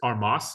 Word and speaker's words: Armas: a new coach um his name is Chris armas is that how you say it Chris armis armis it was just armis okay um so so what does he bring